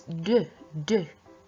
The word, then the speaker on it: deux: Please, we do not pronounce the X, and make sure it's deux.